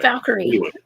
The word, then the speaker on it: Valkyrie: I pronounced that V A L K Y R. Valkyrie, right? Valkyrie.